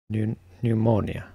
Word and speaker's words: pneumonia: Pneumonia.